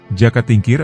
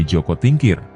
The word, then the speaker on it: Joko Tingkir: Jaka Tingkir atau dalam pelafalan bahasa Jawa menjadi Joko Tingkir, beliau sangat dikenal luas dalam sejarah Nusantara.